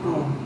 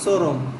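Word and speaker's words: Chrome: Google এটা কি Google ক্রোম ক্রোম ক্রোম একজনরে জিজ্ঞেস করছি কইতেছে এটা চরম সি এইচ আর ও এমই তো সো এই উচ্চারণ করছে চরম হ্যাঁ আচ্ছা এরপরে হচ্ছে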